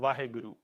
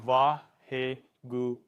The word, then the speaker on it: Vaheguru: have the mantra called Vaheguru. And Vaheguru. This is also 4 syllables as well. So in a way, it could be connected with the 4 steps.